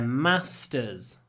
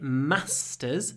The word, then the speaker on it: master: Because in the north of England, we say masters, short, masters. In the south of England, they say, because I'm not from the south, I'm from the north, they say masters. Double sound. Masters. Masters. It's the same sound that you find in March. March, masters. March, masters.